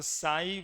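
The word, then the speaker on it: psi: क्या लिखा हुआ है इसको साई बोलते हैं इस सिंबल को साई बोलते हैं पी साइलेंट होता है और यह साई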